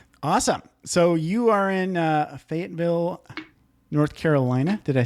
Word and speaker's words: Fayetteville: So you are in Fayetteville, North Carolina.